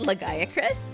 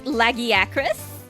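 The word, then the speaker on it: Lagiacrus: Um, I also hate that it's uh not pronounced legacy by the way. It's Lagiacris. Lagiacris. Say it after me. Lagi Acris. Not Lagris. Lagi Acris.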